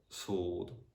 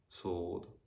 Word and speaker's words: sword: as well um yeah the letter w also can be silent in other random words like for example two or sword sword yeah the only words